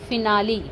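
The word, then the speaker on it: finale: जैसे कि देखिए एफ आई एन ए एल ई फिनाली। क्या हो गया? फिनाली। अब ई है यहां पे तो इ क्या उच्चारण हुआ हमारा?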